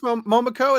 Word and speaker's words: Momoko: They were designed by Mokomo. Yeah. Okay, so Peach Momoko, is that how you say her name?